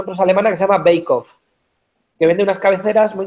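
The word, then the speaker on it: Beckhoff: Yo, si queréis apuntar uno, estoy viendo cosas muy interesantes, una empresa alemana que se llama Beikhoff, que vende unas cabeceras muy interesantes y con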